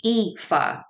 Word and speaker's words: Aoife: she renamed her puppy epha spelled a o I Fe after a female heroine in Irish mythology the name in Irish gelic means beautiful and is pronounced EA Heidi had 30 years